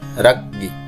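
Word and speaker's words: রাজ্ঞী: উচ্চারণটি অনেকে ভুল করে, সঠিক উচ্চারণ হচ্ছে রাগ্গি, রাগ্গি।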